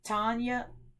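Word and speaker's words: Tonje: Her name is pronounced Tanya, but it's spelled T-O-N-J-E, and it's T-O-N-J-E.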